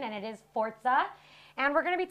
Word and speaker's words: Forza: note it is pronounced forza not forza just like pizza is pronounced pizza not pisa and i will say